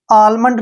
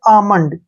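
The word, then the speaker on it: almond: होगा ध्यान रखना है जब एम से पहले एल आता है तो एल का उच्चारण नहीं होगा जैसे यहां पर हमने वर्ड लिया है ए एल एम ओ एन डी इसको हम जो है आलमंड नहीं पढ़ेंगे इसको हम पढ़ेंगे आमंड क्या पढ़ेंगे आमंड ऐसे आ मंड और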